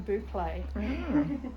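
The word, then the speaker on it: bouclé: that's cool inca spun boucle i say it right now i was calling it buckle for ages and someone corrected me and i was like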